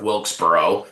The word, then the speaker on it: Wilkesboro: Mine is going to North Wilkesboro racetrack and the racing at North Wilkesboro. And notice I've said it twice and pronounced it correctly both times.